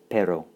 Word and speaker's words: pero: Pero, pero, pero. Excellent pronunciation there. And pero means but. And of course, it's not to be confused with perro. Notice the trilled R because that's the word for dog.